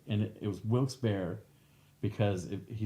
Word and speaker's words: Wilkes-Barre: first things they say is how do you pronounce wilkes-barre wilkes-barre wilkes-barre barr i took a baby every time